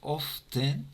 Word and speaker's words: often: Puede ser often o puede ser often. Las dos maneras son correctas.